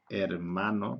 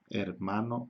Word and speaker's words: hermano: Es muy típico en los estudiantes extranjeros cuando pronuncian la palabra hermano, brother, o hermana, sister, dicen hermano, hermano, hermana, ¿ok? Porque en la mayoría de las lenguas la H se aspira un poco, es hermano, hermana.